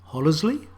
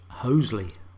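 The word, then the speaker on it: Hollesley: that's grundysburg nope grunsborough hollersley nope hoesley surely that's when hasten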